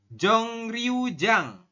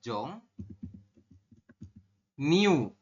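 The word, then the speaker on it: 정류장: Kemudian yang ini terakhir, ini tulisannya adalah Jongryujang, tapi kita bacanya adalah Jong Niu.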